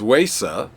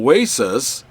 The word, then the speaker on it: Wesa: The developer's name is of Finnish nature, spelt with a W, but pronounced V. So with the W, his name is Vesa, but no, in Finland, they call Vesas Vesa, spelled with a W.